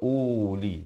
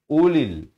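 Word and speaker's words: أولي: masuk Lil di sini huruf wau ini adalah huruf ziadah saja tidak ada pada bacaan hanya ada pada tulisan Jangan pula kita baca Uli tapi Ulil bacanya Ulil bilti Ulil qu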